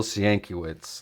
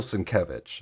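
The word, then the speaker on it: Sienkiewicz: I used to think his name was Bill sanitz until I actually heard someone else actually pronounce it correctly but it's Bill sevich so um but he's got a real unique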